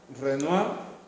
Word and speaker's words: Renoir: este caso se pronuncia renoir los dictados transfer hoy se dice o el renoir si produce mucho la r y en este caso si no pronunciamos la última consonante venga monet renoir aunque hay muchos más